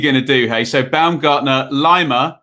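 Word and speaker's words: Laimer: do hey so baumgartner lima who's not liner and schlager in midfield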